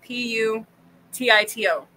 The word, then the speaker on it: Putito: And it's P-U-T-I-T-O. John's my favorite. Putito. Yeah, me and Joe make jokes all the time with we speak Spanish when the band are doing things. And I call him Putito all the time.